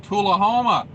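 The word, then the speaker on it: Tullahoma: in my hometown of tulahoma i like santoula homa all the locals hate that uh they pronounce it tula homa uh i grew up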